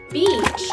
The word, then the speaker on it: beach: Beach is spelled B-E-A-C-H. When two vowels go walking, the first one does the talking. Each, beach.